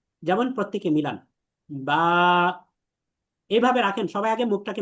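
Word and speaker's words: ب: অর্থাৎ এসবিএম মেথডে আমি বলি যে স্বাভাবিকভাবে আপনার কোনো কষ্ট কসরত কিচ্ছু করতে হবে না, আপনি স্বাভাবিকভাবে শুধু দুইটা ঠোঁটকে মিলাবেন। যেমন প্রত্যেকে মিলান বা, এইভাবে রাখেন, সবাই আগে মুখটাকে মেলান, এমনি চুপ হয়ে যান, সাইলেন্ট।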